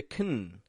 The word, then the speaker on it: can: it sound like a for example they can go they can do it they can can when I drop the a from the word can and I just make it a can it allows me to connect the words around it effectively so that all of these words come to sound like just one big word they can go they